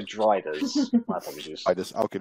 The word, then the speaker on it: Drider: They're not Striders, they're Driders.